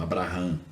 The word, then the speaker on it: Abraham: Se escreve dessa forma, aí foi mudado para Abraão, Abraham em inglês.